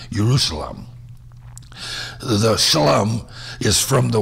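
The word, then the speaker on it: ירושלים: The place named Jerusalem, pronounced Yerushalayim in Hebrew, is a combination of two words.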